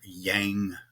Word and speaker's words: Yang: you stay away from what's called more Yang colors or Yan colors depending on how you want to pronounce it and you want to